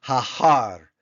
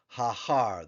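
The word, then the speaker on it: הָהָר: about hair Mountain hair if we were to add the definite article it becomes haar haar the mountain and then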